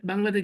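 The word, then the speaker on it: ب: এরপরে দেখেন, এই যে একটা ওয়ার্ড, এটাতে বাংলাতে কি বলে? ব, ইংরেজিতে বা। বি। বি। ইংরেজিতে বি এর যে উচ্চারণ, বাংলায় ব এর যে উচ্চারণ আরবিতে বায়ের সেম উচ্চারণ, বা জবর বা, বাজের বি, বা, বা পেশ বি, বু, বাবি বু।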